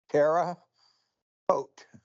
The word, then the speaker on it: Terre Haute: Terre Haute. It's French. It means high land. Haute means high. Terra means land.